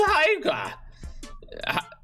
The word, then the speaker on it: Haigha: His name is Haiga. He pronounced it so as to rhyme with mayor.